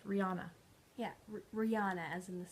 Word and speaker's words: Rihanna: Mary Stuart, and then Cleopatra, and then finally Rihanna. I never say it right. Rihanna.